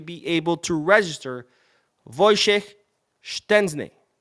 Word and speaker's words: Szczęsny: able to register Wojciech Szczęsny. Yes, that is how you say it correctly.